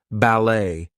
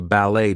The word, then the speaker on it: ballet: So things like ballet, gourmet, we are not going to pronounce the T there. She's a ballet dancer.